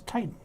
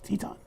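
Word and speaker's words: Titán: I thought it was Titan. It's Teton. They pronounce it Teton.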